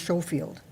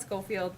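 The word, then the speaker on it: Schofield: infield at Memorial and I believe that's pronounced showfield we call it scoffield but it is spelled that way okay because I know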